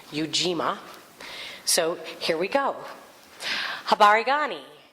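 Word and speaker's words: Ujima: is yuima collective work and responsibility so it's pronounced yuima so here we go habani nice fabulous yuima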